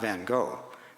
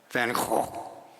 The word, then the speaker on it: Van Gogh: Netherlands, I learned that the correct pronunciation of that artist's name is not Van Gogh, as Americans pronounce it, but Van Gogh.